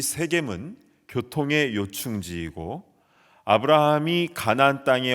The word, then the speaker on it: 세겜: 왼쪽에 있는 산이 그리심산, 오른쪽에 있는 산이 에발산이고요, 두 산 사이에 있는 도시가 바로 그 유명한 세겜입니다. 현지에서는 쉐켐이라고 발음하는데요, 이 세겜은 교통의 요충지이고 아브라함이 가나안 땅에 와서 가장 먼저 제단을 쌓은 그런 기념비적인 장소입니다.